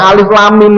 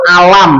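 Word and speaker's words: الم: Kita enggak boleh baca alif lam mim itu alam atau alimun, lamun, mimmun. Enggak boleh.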